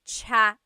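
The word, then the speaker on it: tsaa: that you drink and it's spelled TSA a cha cha that's such a talug spelling I love it there's the TS sound and then the double vowel uh pronunciation cha it's so talog yes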